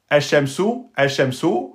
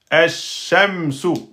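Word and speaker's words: الشَّمْسُ: On ne dit pas el shemsu. Là, vous avez oublié la shidda. Non, il faudra que vous disiez el shemsu. Ash-shamsu. Vous êtes obligé de prononcer la shadda.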